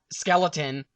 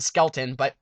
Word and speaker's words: Skelton: get some quarterback besides Skeleton, or I should say his name is actually John Skelton, we'll just say Skelton. I'm not sure on his first name, but hey, it sounds like Skeleton.